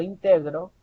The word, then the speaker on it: integro: yo digo yo yo integro si se dan cuenta la mayor fuerza de voz no la tengo al inicio sino más bien la tengo un medio yo integro yo integro